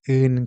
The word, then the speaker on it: 은: As you know, "ing" in "un" is silent. So the final consonant from the previous word naturally moves over and fills the silent spot.